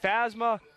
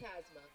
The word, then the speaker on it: Pasma: the second he'll be fasma Chamorro and rushan due to bat now at designated player number 25 Haley pasma Haley pasma my mistake I said fasma definitely not that's pronounced my mistake ladies and